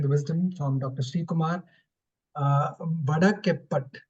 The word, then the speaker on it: Vadakepat: Vadakepat. Is that how to pronounce it? Yeah, Vadakepat. Yeah. Vadakepat, is it? Yeah, exactly. Yes.